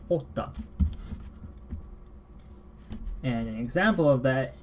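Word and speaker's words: jota: So for J, might be a little funny for English speakers as well, because the J is pronounced as the English letter H. So this is actually hota.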